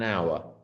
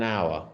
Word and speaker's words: hour: So in the case of hour, the H is silent. You don't hear it. An hour. An hour.